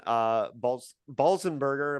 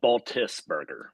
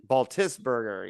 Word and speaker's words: Baltisberger: But we have a new guest, John Baltisberger. Am I saying it correctly, John? No, but that's okay. No one does. It's Baltisberger. Baltisberger, yeah.